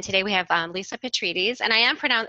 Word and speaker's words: Petrides: joined us and today we have on Lisa Petrides and I am for now in my pronouncing that correctly absolutely yes petrini I did